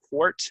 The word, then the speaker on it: quart: Quart and pint. Pint is 16 ounces. This, often beer would be served in a pint glass.